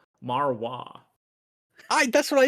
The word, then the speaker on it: Marois: pronounced Jericho Moreau, maybe. First gen user. Um, Wait, no, it is. It is. I got the pronunciation guide. They did the uh the interested prospects. It's Jericho Marwa.